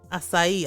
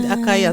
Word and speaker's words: acai: acai or acai yeah say is no there's a little s at the under the sea oh my god it literally tells you pronounce me as an s acai i feel like you